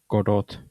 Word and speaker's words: Godot: we are switching to Godot engine, and I'm going to pronounce it that way. Some people might disagree, but anyway, so because